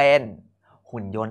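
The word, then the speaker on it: หุ่นยนต์: ยอ โอะ นอ โยน รวม เป็น หุ่น ยนต์ สังเกต นะ ว่า เรา ไม่ พูด ถึง ต เต่า เลย เพราะ มัน เป็น พยัญชนะ ที่ ไม่ ออก เสียง คำ ต่อ ไป ด้าน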